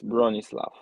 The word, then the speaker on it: Bronisław: Yes, Bronislav. Okay, but the last letter is a W. W, yeah. But you pronounce it like an F.